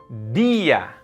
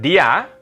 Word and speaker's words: día: Día. It's not dia, día.